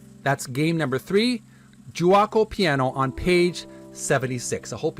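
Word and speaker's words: Giuoco Piano: with game three and it's pronounced juako juo piano it's Italian terminology that's game number three juaco piano on page 76 I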